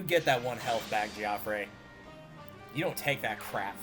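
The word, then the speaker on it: Geoffrey: yeah you get that one Health back gfre you don't take that crap from him also in case you're uh curious as to why I'm calling him giop and not Jeffrey or Jeffrey um there is voice acting in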